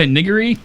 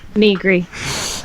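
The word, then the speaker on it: Nigri: Jessica Niggery, and Jim Sterling. Wait, whoa! Back that train up. Say Overclock Remix? No, the second name. Jessica Niggery? What? Negri. What? It's pronounced Negri.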